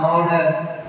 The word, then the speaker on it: honor: என்றால் I always silent letter, an honor அப்படின்னு சொல்லுவோம். ஹானர்னு சொல்ல மாட்டோம். ஹானஸ்ட் ஆனஸ்ட் அது சைலண்ட் ஹைச்.